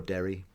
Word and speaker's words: Darry: in the town of Darry. And I pronounce that Darry. Yeah. You're more Derry. Oh, okay. Just Darry. Just a little bit to me, but... It's my Western Pennsylvania accent.